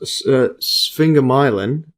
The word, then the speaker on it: sphingomyelin: Yeah, this one I believe is pronounced sphingomyelin, or SM, the type of lipid.